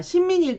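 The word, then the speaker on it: 臣民: 자, 가신, 신민 이렇게 신하 신자가 들어갔고 그럼 일본어 발음 한번 해보면 가신인 경우에는 카신 하시면 되는데 자, 신민일 경우에도 신민 이렇게 발음을 하시면 됩니다.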